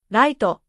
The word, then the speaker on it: ライト: The English L and R become the same sound. Light becomes raito.